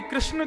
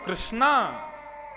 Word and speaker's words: कृष्ण: स्त्रीलिंग संबोधन होता है इसीलिए कृष्ण शब्द का जो लोग कृष्णा उच्चारण करते हैं वे सावधान रहे क्योंकि यदि मुक्ति मिलेगी